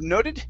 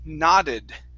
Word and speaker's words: nodded: First up, instead of noted, this word is nodded.